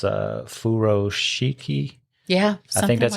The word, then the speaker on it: furoshiki: teach them how to do, I think it's pronounced furoshiki.